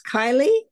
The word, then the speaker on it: Kylie: name for seven years it's Kylie it is not key are you sure oh